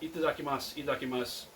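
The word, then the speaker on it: いただきます: channel on youtube and he seems to get rid of the first tea in indakimasu which again not going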